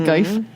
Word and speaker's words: GIF: Somebody put a GIF or GIF, whatever you prefer. no, Of it's pronounced my Kermit the Jif. Frog arms, if you know what we're talking about. It's pronounced Geif.